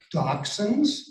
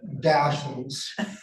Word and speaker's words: dachshund: Well, you know what, I've been hearing people pronounce dachshunds and dachshunds. And at first it didn't, I just figured, well, I knew the right answer. I called it dachshunds. But then I realized, well, maybe I'm not so correct. So one of the things I did check was, what is the pronunciation? And it turns out both of them are okay.